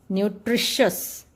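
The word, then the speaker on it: nutritious: 7th है आपका दोस्तों, टी की प्रोनाउंसिएशन हम IO आने के बाद भी श करते हैं।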